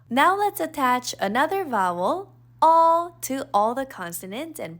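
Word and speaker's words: 어: Now let's attach another vowel, all, to all the consonants and practice reading Korean. This vowel is pronounced all. Although it's romanized as EO, it's really similar to UH. All, as in, uh-oh, something happened.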